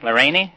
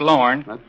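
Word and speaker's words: Lorraine: name was I'd say Lauren Ray they said how you spell it l r a i n e Leni no I said it's pronounced Lauren I'd have to go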